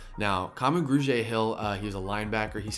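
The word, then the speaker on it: Kamu Grugier-Hill: that I had to look up how to pronounce this is gonna be Camus grew J Hill now common grew J Hill he was a linebacker he's coming from Philadelphia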